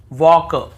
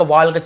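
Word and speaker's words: walk: हो देखिए यहां पर भी हम टॉक टॉक वॉक वॉक चौक चॉक यक यक फॉक फॉक ऐसे पढ़ रहे कहीं पर भी टॉल्ट वाल्क ल्क यल्क फॉल्क नहीं पढ़ रहे हैं लेकिन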